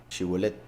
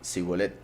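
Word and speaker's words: שיבולת: Sí, los de Efraín no podían pronunciar la shin, la pronunciaban como una S. Shibolet, y ellos decían Sibolet.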